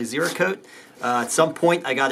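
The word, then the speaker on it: Ziricote: building will be with Z riccati and I know that I pronounced that wrong and that's actually zero code at some point I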